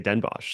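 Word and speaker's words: Den Bosch: from a source that everybody over there refers to it as Den BOS oh come on I can't really I just learn how to pronounce her talking after and this this happened last year too we were like struggling over the name so much particularly you I I was struggling yeah that's right I was strugging yeah uh apparently everybody all the Dutch they just say denbosch so uh We've been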